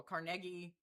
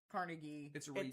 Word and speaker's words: Carnegie: So, we Tommy is asking about how to say Carnegie. And yes, um we looked it up and both pronunciations are acceptable. Carnegie. Carnegie.